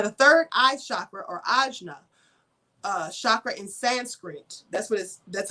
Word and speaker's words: ajna: Now, the third eye chakra, or ajna, chakra in Sanskrit, that's how you say it in Sanskrit, is known as the seats of intuition.